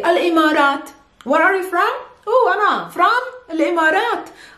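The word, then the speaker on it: الإمارات: to simplify your lives you can simply say al-imarat where are you from from i'm it's a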